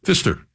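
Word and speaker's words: Pfister: button bar button bar that's not how you pronounce it though how do you say it Fister barely know anything else you guys need no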